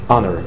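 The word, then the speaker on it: honour: خلي بالكم في بعض الكلمات بيبقى الاتش فيها سايلنت. خلاص هشاور عليها هونر، اسمها اونر. اونر.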